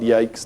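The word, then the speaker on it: Yosys: engine I used was the ISIS engine sometimes called yikes depending on whether or not you want a hard C or a soft C but yeah this was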